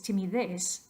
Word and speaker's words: timidez: Entonces, timidez termina en Z, no en S. Según esta regla, estas 3 palabras tienen estrés natural de la voz más fuerte en la última sílaba.